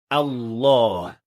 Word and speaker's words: Allah: Finally, another very common mistake is pronouncing the heavy lamb in the best name impro not fully heavy or fully light. Normally when we say the best name we say Allah the mistake happens when